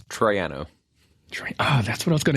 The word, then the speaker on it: Troiano: It's Troiano.